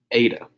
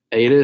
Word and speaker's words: eta: So after zeta comes eta. Zeta, eta, and the last one's going to be theta. They all rhyme.